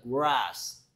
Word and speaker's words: grass: R은 거꾸로 혀가 목구멍 쪽으로 들어가야 된다. Grass.